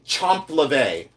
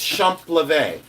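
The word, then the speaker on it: champlevé: it's different than, and then people say chomp leve. What? Chomp leve. It's shump leve. Shump, not chomp. Shump leve.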